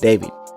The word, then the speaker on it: d4vd: Now, the vehicle she was found in was registered to a rising singer from the Houston area named D4 VD, pronounced David.